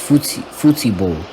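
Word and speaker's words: futebol: a soccer match or in portuguese i believe it is pronounced futible and during that time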